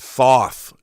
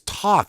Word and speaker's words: Toth: Everyone says Lord Thoth. I'm waiting. Okay. It's Toth. That's how you pronounce TH.